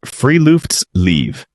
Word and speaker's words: friluftsliv: Pronounced friluftsliv, Norwegian for open air life, but the translation misses what the concept actually means.